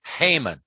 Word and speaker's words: Haman: by the name of haman i remember his name because it rhymes with hangman and he was all